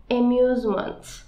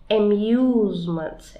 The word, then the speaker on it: amusement: Ama kelimenin okunuşuna lütfen dikkat et, olur mu? Amusement. Muse. Neden? Çünkü İngilizce'de U'yu U olarak okuyordu. Amusement.